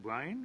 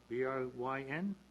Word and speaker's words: Bryn: the name on that, Brian or Bryn? Bryn? B-R-Y-N? Bryn Myers? I hope I don't want to mispronounce the name. I guess it's Bryn Myers.